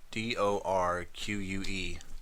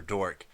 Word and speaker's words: Dorque: His name is spelled D-O-R-Q-U-E, like the word torque except with a D. So everyone in the story calls him Commander Dork, and he's always correcting people, telling them that the proper pronunciation is Dorque.